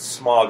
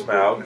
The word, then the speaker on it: Smaug: can't quite see them very well yet they pronounce it smog in this movie the correct pronunciation is smaug i have learned the men are very surprised